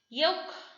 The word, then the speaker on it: yolk: resign g is silent yolk l is silent almond l is silent